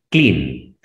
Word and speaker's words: clean: Solo pronuncias la primera vocal, que es la E, y la segunda vocal la omites. ¿Cómo se pronuncia la E en el abecedario? I. Entonces dices clean.